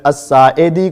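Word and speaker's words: الساعدي: بولنا نہ آتا ہو، تو اسی طرح آپ ابو حمید الساعدی کو سعدی سعدی سعدی سعدی کہتے ہیں۔ یہ اپنی اصلاح کیجئے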